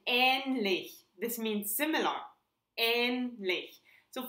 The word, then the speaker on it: ähnlich: When you pronounce the Ä long, it's like in ähnlich.